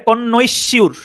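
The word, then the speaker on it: connoisseur: আর কন কন সি কন সিউর কন আমি উচ্চারণ এভাবে কনশিউর কনশির কনশিউর এখানে উচ্চারণ করলে মোটামুটি বোঝা যায়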